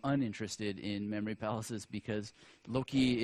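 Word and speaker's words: loci: in memory palaces because Loki is a non-english word and it doesn't really mean that much it's spelled l o c i and I like stations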